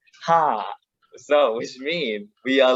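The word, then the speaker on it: ห้า: plus are in thai the number five pronounced ha so which means we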